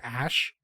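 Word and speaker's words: Æ: the AE that are like glued together, is pronounced ash.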